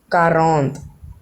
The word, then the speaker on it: quarante: तो 40 को हम कहेंगे, ओ sorry sorry sorry sorry guys, 40 को हम कहेंगे फ्रेंच में कैथ, सॉरी कैथ नहीं कहेंगे, कारौंत।